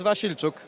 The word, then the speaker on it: Wasilczuk: But I'm not going to even try to pretend to pronounce his name. Could you say it for me? Sure. It's Wasilczuk.